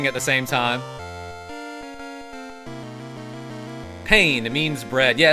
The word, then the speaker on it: pain: In French, it's P-A-I-N. Pain. Spelled like pain.